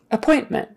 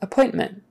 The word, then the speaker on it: appointment: wrong so anyway appointment appointment stress is on that middle one appointment appointment um yes the